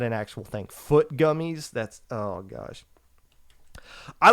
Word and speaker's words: FUIT: FUIT gummies. It's not fruit gummies. It's Foot gummies.